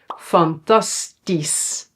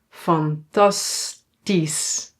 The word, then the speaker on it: fantastisch: Yeah, we pronounce it as is. So here we don't say that's only when it's at the end of a word. For example, fantastisch. fantastisch and logisch.